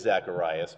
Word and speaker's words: Zacharias: get zacharias it's because in greek uh it is zacharias but the hebrew pronunciation